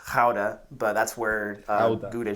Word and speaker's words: Gouda: for its cheese so like you think of gouda cheese it's pronounced how to but that's where uh gouda cheese comes from